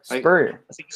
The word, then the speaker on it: Spurrier: No, yeah, Spurrier. Spurrier.